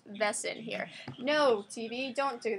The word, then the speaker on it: Wesen: the world called Wesson the German word for creature being pronounced vessen here no TV don't